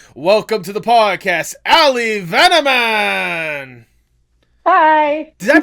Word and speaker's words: Vanaman: I didn't realize this until after I was started saying like, oh crap, I did not ask if I how to pronounce Vanaman. That's it. Yeah, Van.